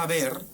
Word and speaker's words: haber: a qué responde esto si la H no se pronuncia y la b y la v son exactamente en los contextos fonéticos son exactamente los mismos sonidos Entonces eso A qué